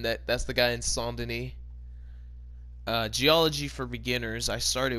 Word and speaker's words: Saint Denis: little bit outside of Psalm Denis or Saint Denis as you would pronounce it now but and everybody else